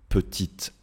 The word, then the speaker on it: petite: casquette j'entends le T d'accord une casquette une petite ville voilà une petite ville je je ne dis pas une petite